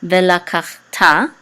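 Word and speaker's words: וְלָקַחְתָּ: This is going to be kach, ve, la, kach, and the shava is silent. Usually in the middle of the word, the shava is silent. Ve, la, kach, and this is a ta with a kamatz, which says ta, ve, la, kach, ta.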